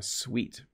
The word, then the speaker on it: suite: When you go to a hotel, you might stay in a suite. So this is actually pronounced the same way as, you know, sugar is sweet.